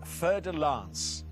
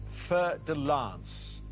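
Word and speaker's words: fer-de-lance: What type of animal is a fer de lance? A snake, a bird, or a crab? What type of animal is a fer de lance?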